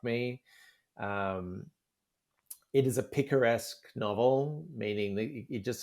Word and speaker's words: picaresque: pick a rest yeah picaresque is a just uh no not picturesque picaresque um how do you